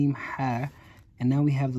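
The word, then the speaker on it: ح: sound straight come back down and around say halt say haw haw has a duck on top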